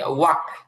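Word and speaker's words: walk: এরপরে হচ্ছে ওয়াক, ওয়াক হাঁটা, এখানে এলটা আর উচ্চারণ আসবে না।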